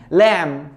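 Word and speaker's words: lamb: سباك بي ال يو ام بي اي ار تتنطق ها بلامر كلايم كيمين كلاين كم كم لام لام اللي هو الخروف الصغير ال اي ام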